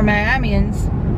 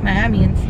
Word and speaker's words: Miamians: But for Miamians, and that's how you say it, Miamians.